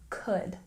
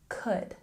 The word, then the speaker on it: could: let's look at pronunciation even though there's an L here in this word we don't pronounce it we say could could and here new new